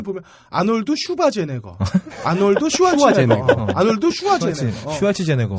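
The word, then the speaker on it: Schwarzenegger: 아놀드 슈왈츠네거는 진짜 플레임이 뭔지 모르겠어. 그러니까 늘 보면 아놀드 슈바제네거, 아놀드 슈왈츠네거, 아놀드 슈와제네거. 슈왈츠제네거. 쓸 때마다 달라요. 네. 그리고 또 오스트리아 발음으로 아르놀트 슈바르츠네거라고 한다고.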